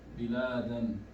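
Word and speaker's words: بلادا: If I stop at biladan, I will read it, I will pronounce it as bilada. All other cases, whenever we stop, we make it sukoon.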